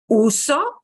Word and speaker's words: uso: show you briefly why Uso second oh gets the punch right jiggle gets the